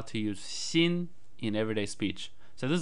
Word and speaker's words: 新: the basic chinese word xin xin pronounced in the first tone which means new here are some examples of how to use seen in everyday speech so